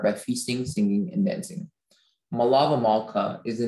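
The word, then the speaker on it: melaveh malkah: saturday evening um wait are there any alternate pronunciations there is none there's just the one malava malka my lava malka malava malta malava m e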